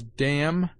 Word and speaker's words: damn: N is sometimes mute after M, as damn, condemn, him.